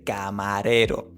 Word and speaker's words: camarero: So, camarero, that dragging out the O at the end should not exist in Spanish. We say camarero. camarero So, short, more even, and the vowels clear. Then the C, in English, you actually let some air out. So, it's ca. In Spanish, we do not have that air coming out. It's completely blocked.